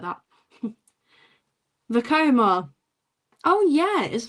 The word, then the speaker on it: Vekoma: Vekoma. Oh, yeah. It is Vakoma.